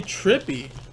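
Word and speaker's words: Trippi: guy but maybe you guys will know charlie trippy is how you say it Beckett certified there's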